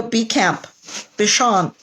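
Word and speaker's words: Béchamp: Antonio Bichon. It's French. It's French, but it's spelled Bechamp.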